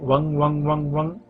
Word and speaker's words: वं: एक मिनट तक करें याद के ऊपर बिंदी लगी हुई हनी चाहिए जो उसका जब करते हैं वो इस तरीके से की वन वन वन वन जी साइलेंट हो जाता है और नाक से बोलना होता है शुरू करें की